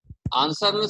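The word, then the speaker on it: answer: इन the world आंसर आंसर silent litre आपका डब्लू होता है आंसर जो आप बोल रहे हो आंसर बोले तो आंसर में डब्लू छिप जाता है कि अब ऊपर कोई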